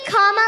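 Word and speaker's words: Kamala: do you pronounce it first you say comma like a comma in a sentence then you say la like la la la la la put it together and it's 1 2 3 comma all right so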